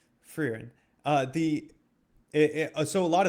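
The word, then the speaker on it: Frieren: F R I E R E N. Fryen. Finan in terms of spelling for us Americans. Yeah. For for the American audience, it's like very weird. But fran.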